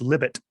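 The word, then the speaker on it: Libet: as emoting or Libya I think it's pronounced libit libit I think most likely oh should we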